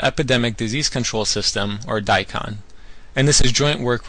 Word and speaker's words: DiCon: I'll tell you about daon daon is pronounced like the radish and what it is